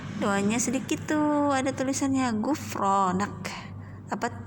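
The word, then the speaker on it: غفرانك: Doanya sedikit tuh, ada tulisannya Gufronak. Apa bacanya? Gufronak. Sekali lagi, Gufronak.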